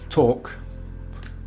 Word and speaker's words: talk: source source and the final way it can be spelt is an a l such as this very common word talk talk so talk talk and finally another example